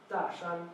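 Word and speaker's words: 大山: Pronounced Dashan.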